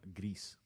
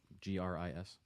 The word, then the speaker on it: gris: I named mine Gris. How do you spell that? GRIS. Like gray in Spanish.